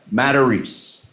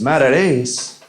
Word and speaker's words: Matarese: reservations for tonight seven o'clock matarese right guy goes mad at ace have you ever ever been told you were saying your own name wrong that's a weird one that's a weird moment I was like what he's like I said I met that ace it's a man that